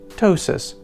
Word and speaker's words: ptosis: in both conversation writing to just ptosis with a silent P there are many different